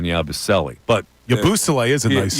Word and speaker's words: Yabusele: Now, the way they pronounced it in Boston, I remember, was Yabusele, which I like a little better than Yabusele.